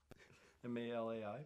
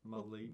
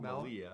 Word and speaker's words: Malai: M-A-L-A-I, Malai. I think that's Malai. It's not Malia, because it was the I before the A.